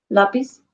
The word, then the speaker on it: lápiz: So if it doesn't end in a vowel N or S, any other consonant, where does the natural stress fall? On the last. On the last syllable, not last letter, but syllable.